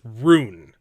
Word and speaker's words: rune: referring to ruin yep I'm saying ruin it's run correct correct I've been pronouncing it wrong sorry that's okay well I know what you mean unlike this dude it's got a little thing on it so it's like it's like a long run it's Rune I think